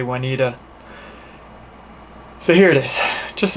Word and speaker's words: Waneta: we need a lake some people say juanetta but all the locals say juanita so here it is